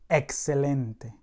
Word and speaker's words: excelente: Side note, words that end in ENT or ANT are accented on the next to the last syllable. For example, presidente. El presidente. Excelente.